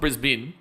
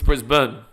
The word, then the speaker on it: Brisbane: but it's like brisb it's not bin it's not bris bin it's bris bur it's a band bur